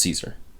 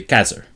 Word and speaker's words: Caesar: julius caesar right um would not have been pronounced caesar in classical latin the rotation of caesar and classical latin would be casser yeah the kaiser and